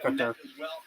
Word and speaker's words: Couture: I'm a big Couture fan, or Couture. I pronounce it Couture.